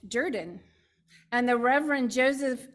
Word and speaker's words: Jordan: I love this because you know how Jordan is spelled j-o-r-d-a-n but it is pronounced Durden and the Reverend Joseph